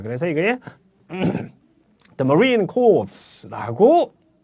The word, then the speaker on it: Corps: 뭐가 문제냐면은 The Marine Corps라고 이렇게 하면은 해병대원들의 시체들이라는 뜻이 됩니다. 자, CORPS라는 것이 P와 S가 둘 다 무급이 됩니다. 그래서 The Marine Corps 이렇게 발음을 해주셔야 됩니다.